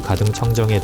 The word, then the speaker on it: 가등청정: 가토 기요마사라는 이름이 다소 낯설게 들릴 수 있지만 이 이름을 우리식으로 발음하면 무릎을 탁 치실 분들도 계실 겁니다. 임진왜란 당시 왜군의 선봉장으로 불국사의 방화를 저지르고 임해군과 순화군을 인질로 잡는 등 우리에게 치욕을 안긴 장수 가등청정의 동상이 구마모토성 입구에 우뚝 서 있는 이유는 무엇일까요?